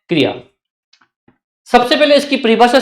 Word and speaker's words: क्रिया: एक बात मैं आपको समझा दूं कि क्रिया जो वर्ड है यह क्रिया नहीं है। क्रिया है। अब देखिए कैसे क्योंकि इसमें क ऋ या इस तरह से बोलते हैं इसको।